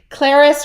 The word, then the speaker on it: Clarice: But Clarice rhymes with Paris.